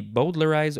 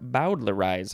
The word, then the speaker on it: bowdlerize: is or could also it could be boldlerize or bowdlerize however you want to say is okay this is a transitive